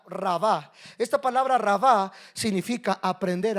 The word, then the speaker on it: rabá: La palabra multiplicar, esa palabra en hebreo es rabá, así con doble e en con acento en la segunda rabá.